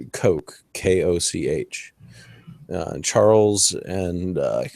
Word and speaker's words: Koch: going on for quite a while now this is spelled coke ko CH and Charles and what's another there's